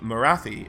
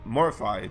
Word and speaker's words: Morathi: most of them are pupils of Morathi, or Morify, depending on your preferred pronunciation.